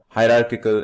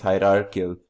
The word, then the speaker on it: hierarchical: Finally, we have, penultimately, we have as our fourth example of inheritance called hierarchical inheritance. Pardon my mispronunciation, it's hierarchical inheritance.